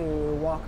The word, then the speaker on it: walk: Encore un L qu'on ne prononce pas. C'est comme, c'est pas would, OK? C'est would. Correct. To walk, on ne prononce pas le L, OK?